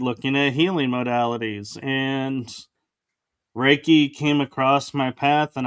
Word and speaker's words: Reiki: And but you are also and I may pronounce this incorrectly a Reiki master?